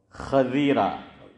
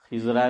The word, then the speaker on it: خضیرہ: تو میں نے آپ کو بتایا تھا کہ یہ ہم لوگ غلط تلفظ کرتے ہیں، علماء بھی بہت سے۔ یہ صحیح لفظ ہے خا پر زبر اور ضاد کے نیچے زیر، اور لوگ اس کو